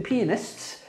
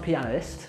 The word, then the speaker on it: The Pianist: But anyway, The Pianist, it's not pronounced pianist, I got corrected, Pianist.